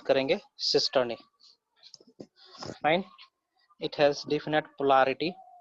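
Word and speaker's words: cisternae: इस तरीके से कुछ स्ट्रक्चर दिखेगा, है ना, इसको हम लोग प्रोनाउंस करेंगे सिस्टर्नी।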